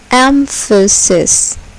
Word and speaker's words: emphasis: Emphasis. Emphasis. Here, the first syllable is accented. Emphasis.